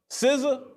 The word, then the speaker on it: SZA: Zizza? Luke, do you know this S-Z-A? Do we know how to pronounce it? SZA?